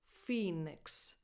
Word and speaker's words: Phoenix: Phoenix. Phi, tense E, as in the word eat. Phoenix. So it's a lax E, but almost a schwa, basically, because again, unstressed, so undefined. Phoenix.